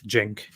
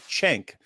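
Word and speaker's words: Cenk: you're actually Turk Jen the C is pronounced as a j yeah yeah it's Jen Jen Jen because I heard him called that but I've also heard people call him chank so people just don't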